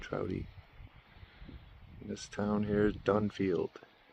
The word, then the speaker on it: Trouty: Trouty is spelled just like trout with a Y on the end. Trouty.